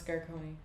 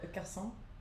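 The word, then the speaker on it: garçon: What's Garone? I'm calling over the Garonei. Oh, garson.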